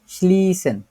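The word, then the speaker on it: schließen: উৎপসন বন্ধ করা স্লিসেন এখানে আমরা এস সেট দেখতে পাচ্ছি জি এখানটায় এস সেট দেখা যাচ্ছে না এই এস সেট টাই হচ্ছে আমাদের ডবল এস এর মত কাজ করতেছে তো এটারে আমরা কিভাবে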